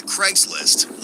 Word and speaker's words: Craigslist: a website similar to Craigslist labeled as Daddy for Little. According to the ad... Sorry, I've got to interrupt straight away, yeah? It's pronounced Craig's List.